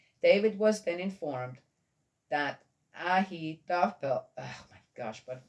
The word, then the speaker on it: Ahithophel: Ahithophel was Ahithophel. Well, a P and an H also makes an F. In my language is a lot closer to the Jewish language than English. Ahithophel was among the conspirators with Absalom.